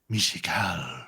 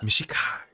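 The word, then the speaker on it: Mishakal: It's pronounced Mishikal. Mishikal.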